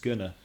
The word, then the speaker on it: going to: just one thing that when you say going to it's usually pronounced gonna yeah I'm gonna stay